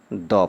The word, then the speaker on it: the: यदि ये कॉन्सोनेंट से शुरू हुआ है तब इसको क्या पढ़ा जाएगा? द पढ़ा जाएगा। तो देखिए क्या ये बॉल जो है ये B से स्टार्ट हुआ है। ठीक है, ये B से स्टार्ट हुआ है और यहाँ पर B क्या है? कॉन्सोनेंट है। इसीलिए अब इस THE को क्या बोला जाएगा? तो द बोला जाएगा।